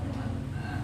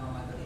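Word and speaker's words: رمضان: Yang Romadhana. Ya. Nah, apa itu? Saya juga nggak tahu Pak. Ya. Kita sama-sama belajar kan. Oke. Dia mengatakan bahwa yang betul itu bacanya bukan Ramadhani tapi Romadhana.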